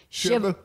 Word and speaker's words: Shelbyville: are from Shelbyville Tennessee guess how you say it Shiva Shiva it makes me cry